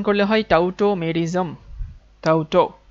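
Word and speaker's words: tautomerism: এম ই আর আই এস এম টোটোমেরিসম এটাকে উচ্চারণ করলে হয় টাউটোমেজম টাউটো টো সো টটটোমেরিজমের ক্ষেত্রে আমরা যে জিনিসগুলো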